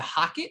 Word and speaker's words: HOCATT: Is it a Hocket? Can you spell it for our listeners that may want to? Hocket.